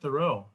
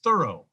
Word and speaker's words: Thoreau: side of his name, remember that most of us, including scholars, call him Thoreau, Henry David Thoreau, but his family actually produced or pronounced his name as Thorough.